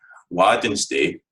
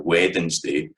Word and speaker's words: Wednesday: folk will say Tuesday, Wednesday or Wednesday, but it still maintains the 3 syllables of Scots. It's no Wednesday, Wednesday, Thursday, Friday, Saturday and Sunday.